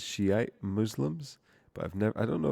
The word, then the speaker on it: Shiite: these guys are fucking shite Muslims, man. But it's Shiite, sorry, so I can't say that. You know, I accept that is how it's pronounced, but I'm just making a fun little observation, you know.